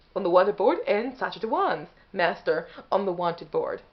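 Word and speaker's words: Sacha Dhawan: you just didn't hear me okay yeah so sacha dewan okay the actor who plays the master currently in doctor who in series 12.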